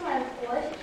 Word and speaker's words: морковь: Ударение падает на слово рог. На гласную о, безударную о запоминаем.